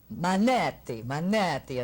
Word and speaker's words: Manetti: This guy plays Rick, and he's really Larry Manetti, a nice Italian boy. Spaghetti. Spaghetti, it rhymes.